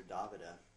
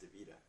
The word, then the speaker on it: Davida: talking about uh Davida everybody calls her DaVita but actually her name's pronounced Davida uh I was with